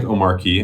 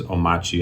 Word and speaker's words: Omarchy: So Omarchy, it looks like Omarchy. I think the actual pronunciation is Omarchy. I think the R is silent.